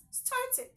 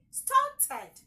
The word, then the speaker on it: started: As far as the verb is ending with a T or a D, then the ed automatically has its own syllable. And the sound coming from the ed is id and not ed.